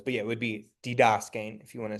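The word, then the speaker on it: διδάσκειν: So this one will be didaskein. But then you're putting the accent on the Sorry, I was saying that to emphasize what the diphthong was, but yeah, it would be didaskein if you want to say it with the accent.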